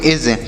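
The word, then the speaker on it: edge: जी तो इसे पढ़ेंगे ई डी डी यहां पर साइलेंट है तो हम ई से ए पढ़ेंगे और जी को पढ़ेंगे ज तो इसे पढ़ेंगे एज इसे भी एज पढ़ेंगे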